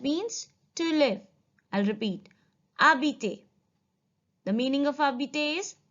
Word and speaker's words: habiter: Habiter. The meaning of habiter is to live. H is silent here. We're calling it as habiter.